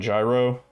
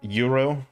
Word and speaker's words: gyro: It was a nice had a nice chicken gyro or yurro I think it's supposed to be pronounced with the uh fresh onion tomato bit of lettuce then uh that little that little sample platter.